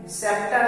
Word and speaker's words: scepter: Science उसी तरह से सेप्टर है, SCEPTER में सी साइलेंट है क्योंकि एस के बाद सी।